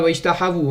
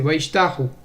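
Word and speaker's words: וַיִּשְׁתַּחוּ: Wayishtahu Yisraël, c'est pas Wayishtahavu, hein, c'est Wayishtahu, c'est au singulier. Wayishtahavu, c'est un pluriel. Là, c'est un singulier.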